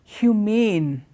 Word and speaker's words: humane: sapiens we're all humans the other word is humane humane means when you have them when you